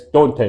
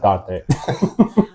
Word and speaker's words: Dante: It's Dante, not Donte.